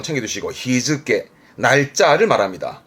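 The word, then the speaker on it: 日付: 발음은 히즈케입니다. 이런 거 챙겨두시고, 히즈케.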